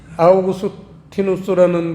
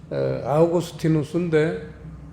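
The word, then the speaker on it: Augustinus: 엄청난 은혜도 받았습니다 이 아우구스티누스라는 분은 이 라틴어 라틴어로 발음이 아우구스티누스인데 영어식으로 발음을 하면 우리가 잘 알고 있는 성 어거스틴이에요 교부 중에 첫 손가락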